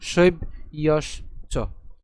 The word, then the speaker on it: শৈব্যশ্চ: জফলা যদি থাকে, জফলার উচ্চারণ কার মতো হয়? অন্ত্যেস্তীয়র মতো হয়। তাহলে আমরা যদি একে ভেঙে লিখি সুবিধার জন্য, কেমন লেখা যাবে? শৈব ইয়স চ।